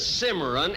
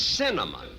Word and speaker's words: cinnamon: You still can't pronounce it, can you? Look, it isn't Cimarron, it's cinnamon.